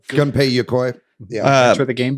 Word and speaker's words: Gunpei Yokoi: know how to say this individual's name, but Gunpei Yokoi. Is that how you say his name? Gunpei Yokoi.